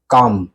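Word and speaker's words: calm: आपको साउंड देखनी है। साउंड क्या आ रही है? साउंड आ रही है काम सी ए एल एम यानी कि काम सी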